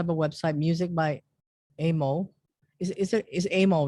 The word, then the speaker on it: AMMO: you also have a website, Music by Amo. Is Amo, right? That's how it's pronunciation. I always have to ask somebody how to pronounce Oh their yeah, no, it's ammo. It's Amo. like ammunition.